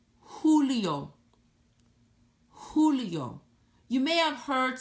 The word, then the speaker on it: Julio: s marzo Abril ah breathe abrini Mario Mario Julio the letter J sounds like the letter H Julio Julio Julio you may have heard someone that speak